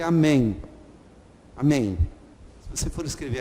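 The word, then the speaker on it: אמן: Em hebraico fala-se amém. Amém. O M tem que aparecer.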